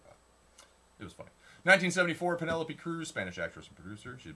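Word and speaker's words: Penélope Cruz: 1974, Penelope Cruz, Spanish actress and producer.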